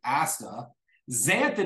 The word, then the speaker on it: astaxanthin: astaxanthin is spelled a-s-t-a Asta xanthin is filled with an X not a z x a n and then think thin like losing weight astaxanthin astaxanthin improves the